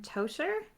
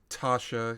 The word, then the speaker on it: Tasha: are here to see captain toaster it's pronounced tasha you should you probably don't want to mispronounce it when you actually meet